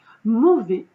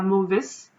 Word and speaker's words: mauvais: Ces 3 adjectifs, c'était mauvais, parce que ça se termine par un S, mais on ne dit pas mauvaise, on dit mauvais, on ne le prononce pas.